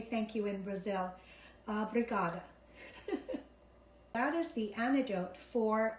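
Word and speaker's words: obrigada: how you say thank you in Brazil uh brigada that is the antidote for Brazilian lemonade and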